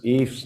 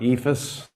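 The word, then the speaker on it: EIFS: wood brick adhered manufactured stone veneer eafs it's pronounced if not ethus where's the eye it's not between the F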